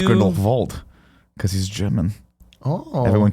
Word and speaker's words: Grindelwald: Wait, it's I'm not sorry, Grindelwald, did it's you- Grindelwald. Because he's German. Oh. Everyone keeps calling him Grindelwald. Yeah. And now I call him Grindelwald.